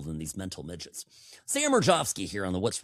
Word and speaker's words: Mirejovsky: Mirejovsky, by the way, people ask me, how do you spell that? Well, I know how to spell it. It's so funny. I'll spell it. It's Mirejov, and I always would say like Victor, so people would know. And then I say SKY, like sky, and that's because it's a Czech name.